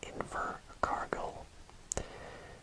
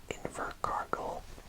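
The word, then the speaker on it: Invercargill: this area here we have a place called inver cargill so let's just bring our lionite and we spell that i n v e r c e r g-i-l-l and that is invert cargo so now we are at the island part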